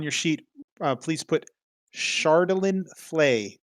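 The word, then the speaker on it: Chardalyn: sheet uh please put chardolin flay shardlin is spelled ch yeah c-h-a-r-d-a-l-y-n it's a d-8 weapon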